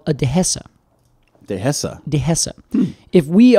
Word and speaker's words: dehesa: If we're in Spain, it's called a dehesa. Dehesa. Dehesa. Hmm. If we are in, or rather, I'm sorry, the Spanish pronunciation would be dehesa.